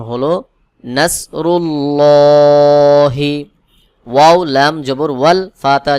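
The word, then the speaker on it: نصر الله: মোটা করে পড়তে হয় যেমন নাসরুল্লাহি অনেকে এখানে উচ্চারণ করে নাসরুল্লাহি এটা ভুল উচ্চারণ সহি উচ্চারণ হলো নাসরুল্লাহি ওয়াও লাম জবর ওয়াল ফাতা জবর ফাত হা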